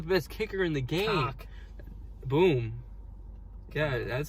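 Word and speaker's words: Koch: Cock. Boom. Yeah, that's how you pronounce it.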